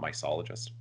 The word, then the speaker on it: mycologist: It is mycologist, right? Not mycologist. Mycologist is a hard C.